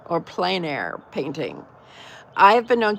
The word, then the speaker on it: plein air: Evie says that she wants to paint outside in nature, otherwise known as, I think it's pronounced plein air or plein air painting.